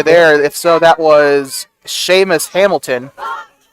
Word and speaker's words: Seamus: If so, that was Seamus Hamilton. The PA announcer actually pronounced it like Themis or something like that when he was doing the start. It's Seamus.